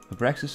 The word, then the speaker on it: Abraxas: Abraxas appears as a demon residing on the astral plane who tries to steal the Book of Shadows.